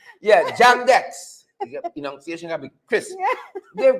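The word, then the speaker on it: JAM-DEX: Jam Dick? What? Sorry? Dex. Oh, Dex, sorry. See, pronunciation. You see, when Queen's like, you like to say it properly. Right? Yeah, Jam Dex.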